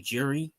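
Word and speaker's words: Jiří: So Khalil Roundtree, CEO, loses in the third round, KO by how the fuck do you pronounce this guy's name? Jiri Prochazka.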